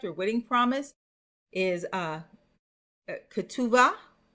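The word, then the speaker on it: כתובה: wedding promise is uh kuva. I have it here with a b. It's really kubua. Kuva. And you might hear it in English, Katuba.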